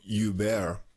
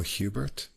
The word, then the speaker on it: Hubert: But now that he's in Vancouver, maybe he's Bruno Hubert. Canadians are probably more sensitive to that, having a French-speaking province there. So I guess I'll go with the French pronunciation of his name.